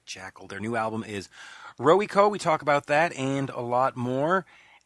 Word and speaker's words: Rowyco: Well, different people say it different ways, but I just say Rowico. But Rowico? Okay. Rowico, Rowyco, and of course, you